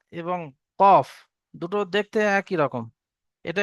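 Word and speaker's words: ق: ফা, ফা, এবং ফায়ের এক নোক্তা আছে, কফের দুই নোক্তা। কফ, কফ তিন আলি পরিমাণ টান হবে। কফ, এবং কফ উচ্চারণ করার সময় ঠোঁট দুটো গোল হয়ে যাবে।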